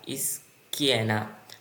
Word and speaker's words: schiena: স্কেনা, স্কেনা। চি আক্কা ই এর উচ্চারণ হয় কি।